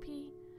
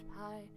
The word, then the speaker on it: pi: The one that's sometimes pronounced P and it's sometimes pronounced Pi.